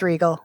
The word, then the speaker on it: Riegel: Yes, it's Regal. Regal. I'm pretty sure. I mean, otherwise I'm pronouncing my name incorrectly.